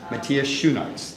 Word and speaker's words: Matthias Schoenaerts: It is my pleasure to introduce you to, although you may have seen him in many previous films, Matthias Schoenaerts. Yeah, it's perfect. Did I pronounce it close enough?